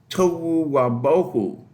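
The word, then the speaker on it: תֹהוּ וָבֹהוּ: In Hebrew, that's a little bit of a rhyming scheme that says it goes, when it's pronounced, tohu wabohu. and because it rhymes, it had a way of being spoken when the text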